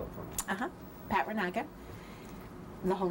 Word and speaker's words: Reynaga: is um can you say your name and spell it for me pat ranaka the whole name pat and then r-e-y-n-a-g-a i'm